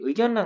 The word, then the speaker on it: 의견란: 그래서 의견이라는 말에다가 란이라는 말을 읽을 때 잠깐 쉬었다가 가니까 니은을 발음한 다음에 이게 유음화가 되는 그 영향을 받는 것이 아니라 이게 비음화가 일어나는 거예요.